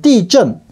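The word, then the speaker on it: 地震: 중국어 발음은 띠전.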